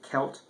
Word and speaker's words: Celt: you pronounce it like a selt that's French influence uh the French have soft Seas but in Gaelic it's hard SE so it's sound like a k sound so it's wed kelt and wed is basically